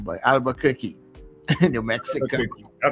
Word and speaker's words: Albuquerque: Paty is al out there in I wonder what if I can pronounce that name but Albuquerque New Mexico. That's correct. Albuquerque.